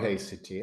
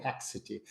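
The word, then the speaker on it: haecceity: is the memory of hity and thank you for giving the the correct pronunciation I said haxity there must be some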